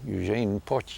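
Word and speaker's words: Eugène: he was in hiding Eugene I think that's how he pronounced his name and that very month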